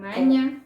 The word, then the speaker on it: maña: Você bate Es que você no está pronunciando a ñ. Con maña.